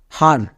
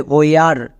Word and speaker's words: where: WH এর জন্য হ, নেক্সট, তারপর চলে আসো একদম শেষে ERE, এর জন্য একসঙ্গে উচ্চারণ হয় আর, তাহলে হ প্লাস আর, হার। কিন্তু আমরা এই শব্দকে এরকম উচ্চারণ করি না, এটা কিন্তু নিয়ম অনুযায়ী হবে না, তাই তো এটা হচ্ছে সাইট ওয়ার্ডস। এর জন্য উচ্চারণটা হবে হোয়ার, হয়ে আর, একে একসঙ্গে উচ্চারণ করা হয় হোয়ার।